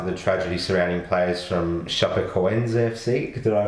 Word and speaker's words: Chapecoense: deeply saddened after the tragedy surrounding players from Chapecoense FC. Did I pronounce that correctly?